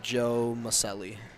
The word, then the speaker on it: Maselli: I need to make sure I pronounce this name right. Should be Joe Maselli.